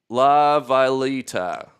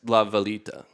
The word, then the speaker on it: La Villita: And James says it's pronounced La Villita. Thank you. Villita. Villa. Little village. No, it's La Villita. The little village, I believe.